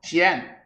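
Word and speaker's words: 神: 신 귀신 신자를 써서 시엔 이렇게 칭해요.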